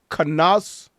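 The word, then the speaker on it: Knauss: Canas. Not so the K is silent.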